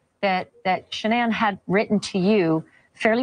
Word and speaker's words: Shanann: Well, here's what I'll say, because ever since I knew her, it was always Shanann, and I'd break it up into two syllables and two separate things, mm-hmm.